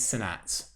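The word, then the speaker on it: Sainz: Sanats is Sanats. You pronounce it with an S.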